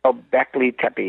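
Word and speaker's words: Göbekli Tepe: I mean I I don't know if I'm pronouncing that right go Beckley go Beckley Tey go Beckley Tey yes but but I mean I mean look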